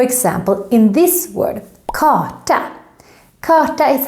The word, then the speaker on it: karta: in this word kata karta is how is a map and also here the r is silent and if the r